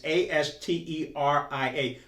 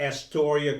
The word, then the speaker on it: Asteria: It's Asteria. For folks from New York City, that is not Astoria, Queens. It's Asteria. It's spelled differently.